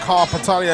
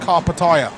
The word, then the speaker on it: Karpatalya: the Pierre who I've also been told that carpet area is now pronounced carpet aya carb attire okay I'm tired apparently live a